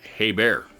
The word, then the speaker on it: Herbert: about the diesel Herbert apparently in German over in Germany it is actually pronounced hey bear however another common other-- we were from Germany later commented and said that it was also pronounced Herbert over there I guess